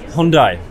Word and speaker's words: Hyundai: About how do you actually pronounce the company name? Hyundai.